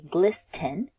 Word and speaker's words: glisten: Although it has ten inside of it, we don't pronounce the t sound. So we wouldn't say glisten.